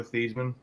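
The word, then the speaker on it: Theismann: campaign year for Heisman they changed Theisman because it rang with Heisman but before that he always went by Joe theisley oh I never knew that his actual pronunciation is Joe theseman yeah it was before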